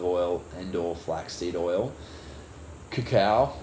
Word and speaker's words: cacao: and or flaxseed oil, cacao or cocoa, depending on who you talk to. Cacao is usually how it's said, which is like a form of dark chocolate.